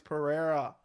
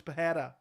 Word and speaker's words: Pereira: sean strickland versus alex pereira apparently i've been saying the name wrong i thought it was pahada it's pereira which is going to